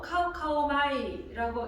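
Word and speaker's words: καυχάομαι: 여기서 자랑하노니, 이 말은 헬라어로 카우카오마이라고 읽습니다.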